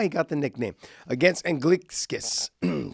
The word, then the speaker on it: Anglickas: It is, we used to call him Anglickas, and he was okay with it. And then Mauro Ranallo one day changed his name. Because he asked him exactly how to say it. That is not the true pronunciation in Lithuania. The true pronunciation in Lithuania is Anglickas.